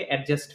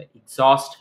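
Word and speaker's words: exhaust: কারণ আমাদের দেশে এটাকে এডজাস্ট ফ্যান বলে। এক্সস্ট ফ্যান হবে।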